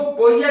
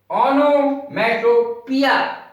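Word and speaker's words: onomatopoeia: पिया, इसको पोइया नहीं बोलते, पोइया गलत है। ओनोमैटोपिया, ये इसका उच्चारण है।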